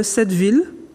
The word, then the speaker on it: Sept-Ville: Alors en Guadeloupe, je sais qu'elle a le nom de Sept-Ville, oui, comme ça se prononce, 7, le chiffre 7, ville comme une ville.